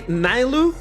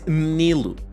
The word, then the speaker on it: Nilu: Some people say Nilu, but the actual pronunciation of it is Nilu.